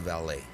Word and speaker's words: valet: you pronounce v-a-l-e-t the valet i pronounce it i pronounce it valet as well and it is pronounced val the t is definitely silent this is the one